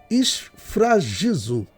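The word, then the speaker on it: σφραγίζω: O termo que o apóstolo Paulo utiliza é um termo que ele se pronuncia esfragizo, tá bom?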